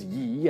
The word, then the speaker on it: ye: shop in the end ye as in y old bookstore is a completely different word using the letter Thorn and should just be pronounced exactly like the this doesn't sound nearly